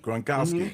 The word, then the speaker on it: Gronkowski: Gronkowski.